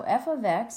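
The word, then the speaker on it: f(x): So f of x is the name of a function. We talked about this before, and that is how you say it.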